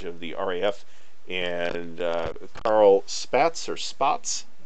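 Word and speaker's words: Spaatz: We have Air Chief Marshal Charles Portal in charge of the RAF, and Carl Spatz or Spots. Spots? I think it's pronounced Spots. I might be wrong about that.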